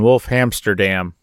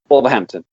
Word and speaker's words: Wolverhampton: from all the way across the pond and wolf Hamsterdam or wherever the hell you are how do you say it again Wolverhampton Wolverhampton man I messed it all up again